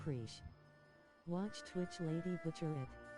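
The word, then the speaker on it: Prishe: Preesh. I think it's pronounced Preesh. Watch Twitch Lady butcher it. I think it's pronounced Prish.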